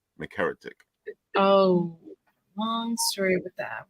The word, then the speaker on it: Mcheretic: And sometimes I just it's like sometimes people would just pronounce it like MC Heretic or MC Heretic or something like that. So, Mcheretic or something like that. Sometimes I just tell people like, you know, Mcheretic like McDonald's. McNugget.